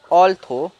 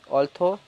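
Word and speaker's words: although: ऑल्थो, ऑल्थो, ऑल्थो में जो last वाले जी एच है उसकी साउंड नहीं आ रही है, ऑल्थो।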